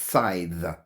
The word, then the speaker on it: scythe: this word here, sigh, I've always pronounced it sigh, and I just looked it up and it's scythe. You do pronounce the at the end.